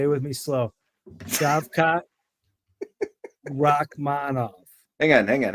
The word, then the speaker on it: Shavkat: Mike uh can you pronounce it can you pronounce it shavat say it with me say it with me slow shavkat Rockman hang on hang on hang on we'll